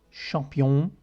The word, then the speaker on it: champion: In on e on adesso, un champion français. La N non si pronuncia, perché? Perché la pronunceremo qui.